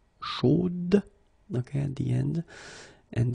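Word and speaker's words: chaude: So here you pronounce the final D, whereas in the masculine form, you don't pronounce it.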